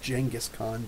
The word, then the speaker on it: Genghis Khan: The Kublai Khan is the nephew of Genghis Khan, dude. Actually, it should be pronounced Genghis Khan, but we're Western.